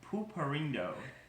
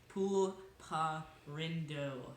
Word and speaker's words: Pulparindo: extra minute this is Cooper Indo original he didn't even pronounce the elbow it's Poole PAH rindo not Cooper and oh okay sorry no